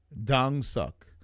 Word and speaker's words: Kongsuk: Dang suck. That's the proper pronunciation.